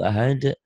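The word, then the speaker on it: أحد: Ustadz kadang-kadang, Kul wallahu ahad Allahu samad. Salah. Harusnya, Kul wallahu ahad Allahu samad. Ada kol-kolahnya. Itu ya. Coba deh kalau nggak percaya. Di mana-mana hampir gitu bacanya itu. Ya. Coba dengerin Syekh-Syekh itu, murotal-murotal. Di internet kan ketik Syekh Huzaifi, Syekh Al-Matrud. Kol-kolahnya ada semua.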